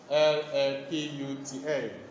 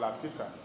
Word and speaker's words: Laputa: L-A-P-U-T-A. Laputa. Which is a flying island. It was a flying island. Flying island. Laputa is a flying island. Or you can call it a hovering island. Okay? Called Laputa.